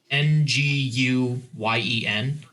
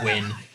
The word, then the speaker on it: Nguyen: this girl her last name was um it's ng u y en yeah in her semen it's just it's pronounced twin those are entire senior quote I was like